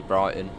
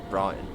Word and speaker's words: Brighton: Brighton got to say you got to say with the silent T Brighton Brighton hopefully having that window